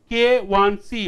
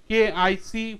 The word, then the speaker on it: KIc: K1C, often the students pronounce it KIC, which is wrong.